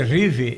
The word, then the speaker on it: Reeve: Esse Reeve é R-E-E-V-E. Eu estou dizendo Reeve por causa da pronúncia do inglês aqui.